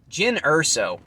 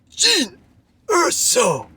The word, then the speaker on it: Jyn Erso: Mara Jade, Darth Zana, Jyn Erso, or Pardon me. I don't think I pronounced that last one properly. I believe it's supposed to be Jin Urso.